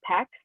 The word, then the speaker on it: PEX: The PEX cards, P-E-X is how you say that.